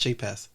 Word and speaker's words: jxpaz: The X is silent, so it's just jxpaz.